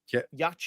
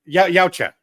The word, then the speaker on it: Yautja: Yacha. No. Yautja.